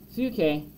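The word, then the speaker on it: ψυχή: restored and renewed the greek word boon shay pronounced suke is a word bible writers use when talking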